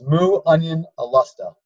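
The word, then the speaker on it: Muonionalusta: do again so it's mu onion a lust oh and that's not actually the perfect pronunciation but it's as close as English speakers are going to get it's a Scandinavian word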